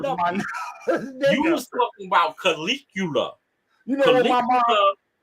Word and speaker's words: Caligula: After the Caligulums, what the hell is that? Caligula. It's pronounced Caligula.